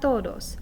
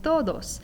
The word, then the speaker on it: todos: initial c sound but the way i want you to pronounce the t in todos is what we call a dental t so instead of putting